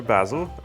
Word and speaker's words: basil: Half teaspoon dried oregano, a half teaspoon dried basil, or basil, as the British say.